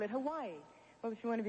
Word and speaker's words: Hawaii: I call it Hawaii. Well, if you want to be very technical, you would say Hawaii, because the Hawaiians pronounce their W's as V's.